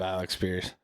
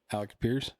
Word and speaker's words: Alec Pierce: Maybe Maybe if you could say his name right. Alec Pierce. Alec Pierce. Yeah, I said Alec Pierce. You said Alex Pierce.